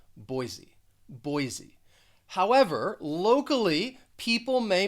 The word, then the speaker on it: Boise: but i think when most americans say this city they're going to pronounce the s more like a z boise boise however locally people